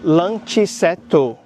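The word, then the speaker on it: ランチセット: Um japonês pronunciaria luncheto, porque no japonês as palavras nunca terminam em consoante, sempre terminam em vogal.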